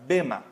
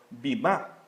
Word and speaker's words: bema: pantalla, es la palabra bema. Algunos escritores o algunos conocedores de la Biblia dicen que se pronuncia como bimá, pero ambas son correctas, ¿verdad?